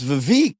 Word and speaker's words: Vivek: So Vivek, it rhymes with lake or bake or Vivek.